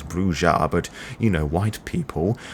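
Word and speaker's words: Brujah: the bruja the bruja partly because there are two pronunciations i'm forever being told of which one is correct even though i know damn right it is bruja but you know white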